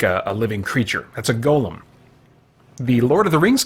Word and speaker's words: golem: hi to me anywhere Oh what's this golem card which brings me to just a a minor pet peeve of mine that golem geo LEM is pronounced golem that's when like a like a creature by